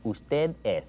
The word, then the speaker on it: usted: Usted es. You barely pronounce that D.